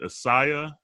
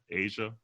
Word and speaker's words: Asya: How do you say her name? Is it Asya Branch? Asia.